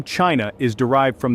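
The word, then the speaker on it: Qin: The name China is derived from the Chin, pronounced Chin dynasty.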